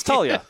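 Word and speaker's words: Taulia: I don't know how to say his first name. Talia? Oh, just Talia. Talia? Yeah, Talia. See, exactly. It's Talia.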